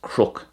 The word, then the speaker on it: cnoc: And this reminds me of the Irish word cnook, which means a hill. Cnook. And it could be pronounced crook as well.